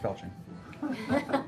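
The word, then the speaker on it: falchion: weapon larger than your Falcon affixed to her back it's pronounced felching I'm going to I'm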